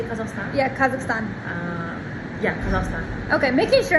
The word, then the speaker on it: Kazakhstan: Okay, making sure I'm saying it right because I hear people say Kazakhstan. Kazakhstan, like it's a tin can, and I'm like, why are we in the south, like a hillbilly? Can you say Kazakhstan, Yeah.